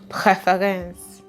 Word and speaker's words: Präferenz: Preference in German is actually pronounced Präferenz.